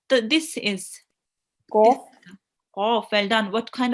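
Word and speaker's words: قاف: It's a thick letter. It will be pronounced from the middle of your throat, and it will be pronounced with your mouth rounded a bit. Okay, so qaf. And with the kasra, we will be trying to round it a bit as well.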